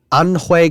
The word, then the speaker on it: An: discovered in anui China I'm from Hong Kong I am Chinese so let me pronounce an correctly an and believed to